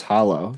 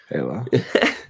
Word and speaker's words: Halo: Oh, is that how you say it? I thought it was Hollow. So Halo.